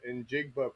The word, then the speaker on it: Njigba: I don't even know, but the way that you say it, I saw a sign that somebody had up, and it said, "In Jigba, please."